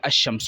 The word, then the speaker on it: الشمس: پہلا حرف شمسی ہو، تو ال کے لام کو حروف شمسی میں مدغم کر کے پڑھیں گے، یعنی لام کا تلفظ نہیں پڑھیں گے۔ یعنی انہوں نے لکھا